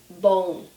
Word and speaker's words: bom: So say with me, bom, bom. So here's how we spell it, and I want to give you a vocabulary tip here.